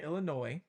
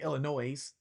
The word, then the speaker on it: Illinois: out there were say Illinois. we pronounce the S. So when I did my video, a couple people were saying the S is silent.